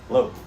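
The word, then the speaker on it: לא: and ask about lo lo just means no okay or not like in the ten commandments it says shall not says lo like know this know that or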